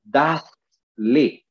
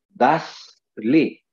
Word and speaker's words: dadle: Simplemente porque la costumbre española, el dialecto español, pues hace que la pronunciación sea separada, como sobre todo en los verbos. Nosotros decimos dale, denle, pero el español no dice dale, el español dice dadle, o sea, dadle, decidle, compradle.